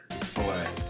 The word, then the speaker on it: Pallais: how do you pronounce that? Pallais? Yeah, you got it. Pallais.